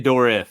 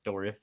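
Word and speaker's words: Dourif: I always say dorif because there's an I in there. So that's how I pronounce it. That's how I hear others. So I don't say dwarf like a like a dwarf, like a It's dorif.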